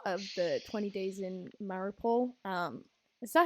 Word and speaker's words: Mariupol: no, I mean, I think like from what I saw of the 20 Days in Mariupol, is that how you pronounce it? I believe so. Sounded Maripol. right, yeah. Mariupol.